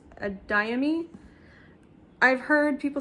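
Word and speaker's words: Adeyemi: Blood and Bone, and I believe this is pronounced Adayami.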